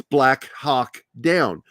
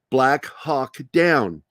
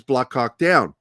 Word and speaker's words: Black Hawk Down: It's Black Hawk Down. Pronounce that H. Black Hawk Down. Do not say it the way some people do, where it says Black Hawk Down, because it just sounds like you're talking about Keith.